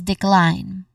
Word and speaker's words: decline: When it comes to pronunciation, there's two syllables. There are two syllables. First is d again de which has a short unstressed e vowel sound and then next to that is clin again klein. We start with a consonant cluster followed by a dip thong sound i and ends with a nasal sound letter n. So this means that the letter e at the end in the spelling is a silent letter.